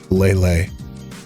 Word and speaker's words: Lele: actually I this is nice how do we pronounce lelay lelay I was right the entire time guys do